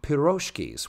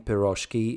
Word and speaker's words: pirozhki: The stress in pirozhki is properly placed on the last syllable.